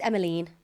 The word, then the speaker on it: Emmeline: I think it's Emmeline.